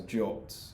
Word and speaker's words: JWT: only quite recently that people refer to jwts as jot but i find that a bit too weird because it's not an o is it it's j it's not how you spell it anyway so at jwt